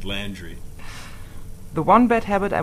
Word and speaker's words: Landry: far is endless probably the correct way to pronounce my last name is landry the one bad habit